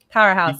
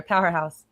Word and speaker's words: Powherhouse: Powerhouse. So when you say it fast, it all goes together. Powerhouse.